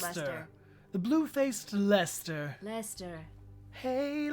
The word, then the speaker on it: Leicester: Lester, pronounced Lester.